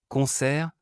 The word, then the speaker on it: concert: Lorsqu'un mot se termine par deux consonnes, on ignore complètement la dernière consonne et on prononce la pénultième consonne. Concert.